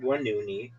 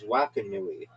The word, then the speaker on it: Wakanui: It's not Wanuni. It's Wakanui.